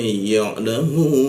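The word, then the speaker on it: يعلمون: Kita panjangkan 3 ketukan. Jadi cara membacanya ya'lamun.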